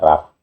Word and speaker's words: Rapha: Jadi kalau P dikasih titik itu P biasa. Kalau enggak ada titik itu disebut F gitu. ini bacanya raf pakai ph ini kalau kita baca f kayak evrata itu sebenarnya ya prata kenapa dibaca ev rata pakai f karena dia tidak ada titiknya kalau di modern ya di